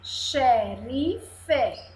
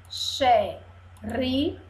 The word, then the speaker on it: xerife: Aqui, xerife, xerife, xerife, três sílabas e o som está de CH.